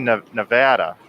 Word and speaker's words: Nevada: And it's actually Nevada. Nevada is the proper way to say it, but because I'm from the Midwest, once in a while I slip out of Nevada.